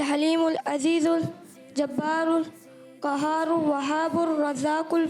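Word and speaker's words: الرزاق: अल क़हार, वहाबुर रज़ाकुल फत्ताहुल। माशाअल्लाह, तीनों नाम दुरुस्त सुनाए हैं। थोड़ा सा प्रोनाउंसिएशन दुरुस्त करेंगे। अल क़हारू, अल वहाबू, अल रज़ाकू, अल फत्ताहू।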